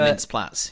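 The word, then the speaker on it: Mintz-Plasse: Christopher Mintz-Platz.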